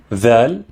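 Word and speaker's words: ذ: Dhal, which is pronounced like the letter or the letters TH in the, this, and that.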